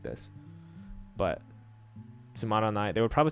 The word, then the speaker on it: つまんない: really need to say, you don't need to pronounce that na. You can just say tsumanai.